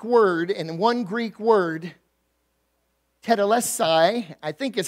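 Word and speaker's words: τετέλεσται: is a Greek word in one Greek word teda left sigh i think is how you're pronouncing tattoo lest I that I did pronounce it correctly it's one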